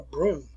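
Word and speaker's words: brougham: But the pronunciation for that is broom just like a sweeping broom.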